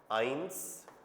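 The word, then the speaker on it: eins: Null one के लिए हो जाएगा आइंस। साउंड भी लिख देता हूं मैं। आइंस देखो एन आधा आइंस इधर नुल टू के लिए हमें बोलना है स्वाई इ का रूल आएगा।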